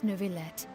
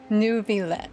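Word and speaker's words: Neuvillette: have the absolutely just and honorable Chief Justice Nouvlet. Oh, so that's how you pronounce his name. New Vlet.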